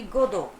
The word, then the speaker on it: Godot: Even if they are not sure, even they are not even sure that if the person, that Godot, Godot, it's pronounced to be Godot, will come or not.